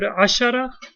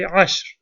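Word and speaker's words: عشر: And one other note, the word ashara, if it has a ta, you will pronounce it asharatun. If it has no ta, you won't say ashar, you will say ashr.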